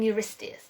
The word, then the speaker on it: Eurystheus: So King Eurystheus, and he ruled the empire, the kingdom of Argos.